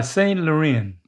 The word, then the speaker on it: Laurent: You need to say it with a French accent. I think that will help you. Oh, a French accent. Y Saint Lauren. And they don't say the T's. The T's are silent. Y luren closer.